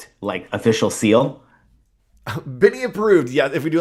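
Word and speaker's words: Binie: Benny. I think that that's the idea. And pronounced By.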